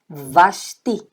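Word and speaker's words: ושתי: Então, V com A, vá. Shim, com o chuvazinho aqui, ó. Sh. E o T, com o I, ti. Vasti.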